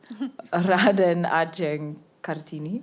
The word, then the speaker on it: Raden Adjeng Kartini: I'm not going to pronounce correctly. Raden Aen Kartini.